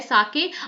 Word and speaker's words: sake: साके a popular Japanese drink है। ठीक है, इसको सा इज प्रोनाउंस लाइक फा इन फादर एंड के राइम्स विद वे।